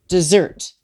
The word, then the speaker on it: Desert: desert is actually pronounced dessert the French pronunciation in homage to Samuel de Champlain the celebrated French Voyager